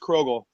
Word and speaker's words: Krogull: introduced me correctly really really yes it is pronounced krogel krro old there I feel so good you